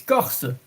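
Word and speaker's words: Corse: So Corsica in French, it's Corsa.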